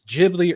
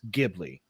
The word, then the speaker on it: Ghibli: I, you know, that's one thing I'm not sure if it's Gibli or Gibli. I I always think of the H more as silent and it's Gibli, but that's me.